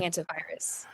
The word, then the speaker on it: hantavirus: Let's shift gears and talk about what we mentioned in the intro, the hantavirus crisis. Am I saying it right? Yes, the Okay. hantavirus.